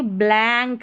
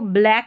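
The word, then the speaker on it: blank: बैंक थैंक और यह देखिए ब्लैंक है। ब्लैंक एंक। अब इसको ब्लैक मत पढ़ देना। ब्लैक पढ़ दे। यह ब्लैंक है।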